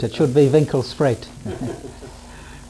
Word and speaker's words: Winkelspruit: It means the river by the shop, but the English mispronounce it. What do they call it? Winklesproot. It should be Winkelspruit.